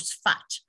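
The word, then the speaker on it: Safed: a little village called fat it's pronounced s-f-a-t but spelt saphed and here there was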